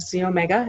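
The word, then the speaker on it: xEO Mega: is the Z Omega that's the XE Omega it's pronounced Z Omega it provides nine essential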